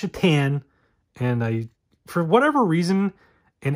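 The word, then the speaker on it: Šatan: I mean, yes, his last name is Satan, but it's pronounced Shatan.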